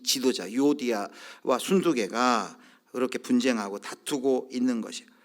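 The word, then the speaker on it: 순두게: 여기 유오디아, 순두개, 이 사람은 이제 빌립보 교회의 지도자입니다. 일부 때는 이 발음을 잘못해가지고 유오디아와 순두부라고 잘못 발음했는데 순두부가 아니라 영어는 신디케, 순두개인데요.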